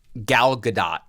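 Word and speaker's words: Gal Gadot: Galadot. Right. Right. That's how you say her name, right? I think it's so g I thought it was Galadot. Yeah, I think you're wrong. It's Galado.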